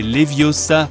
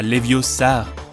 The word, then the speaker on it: Leviosa: parfois besoin d'aide e Siri c'est Leviosa pas leviosar appli de mesure transporter